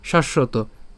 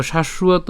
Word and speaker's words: শাশ্বত: দ্বিতীয় উচ্চারণ করে থাকি দেখেন আমরা এটা বাংলায় উচ্চারণ কিভাবে করি শাশ্বত ঠিক আছে আমরা কিন্তু বাংলায় উচ্চারণ করি কিন্তু